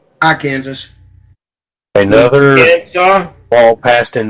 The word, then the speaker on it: Arkansas: Evidently, you don't see a lot of people from Massachusetts down in Arkansas.